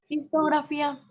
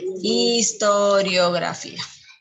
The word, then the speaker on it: historiografía: Histografía. Ay, me comí una sílaba. Historiografía.